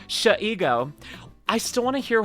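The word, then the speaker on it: Shego: If I ever met Sayu or Amelie, I'd say to them, pronounce it Shigo, She-ego, Sh-ego.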